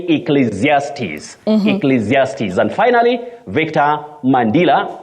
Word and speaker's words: Ecclesiastes: abuse Peter and lual of Elder you say Ecclesiastes Ecclesiastes and finally Victor mandila you say Elijah